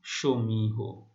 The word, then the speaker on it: সমীহ: আরেকটি উদাহরণ দিচ্ছি, যেমন সমীহ। ঠিক আছে, হ রয়েছে কিন্তু হ মানে অ এর উচ্চারণটি ও এর মতো হচ্ছে। শিক্ষার্থী বন্ধুরা, আমরা অন্ত ধ্বনির ওবত উচ্চারণের তৃতীয় নিয়মটি আমরা দেখব।